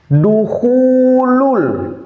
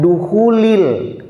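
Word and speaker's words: دخولُ: Jadi bacanya harusnya ya duhulul bi'ati, bukan duhulil bi'ati.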